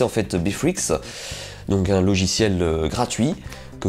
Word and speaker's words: Beatrix: s'appelle Beatrix, donc il s'écrit Beatrix, mais à prononcer en fait Beatrix, donc un logiciel gratuit, que vous pouvez donc